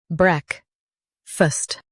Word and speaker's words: breakfast: Break-fast, breakfast. Emphasize break and soften fust.